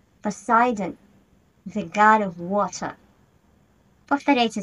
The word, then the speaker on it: Poseidon: Poseidon, the god of water. Повторяйте за мной. Poseidon, Poseidon.